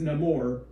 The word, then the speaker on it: Namor: my enemies call me Namor he pronounces it a little bit differently himself like he says no more just because they're changing